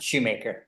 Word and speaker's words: Schumacher: Is it Schumacher or Shoemaker? Shoemaker.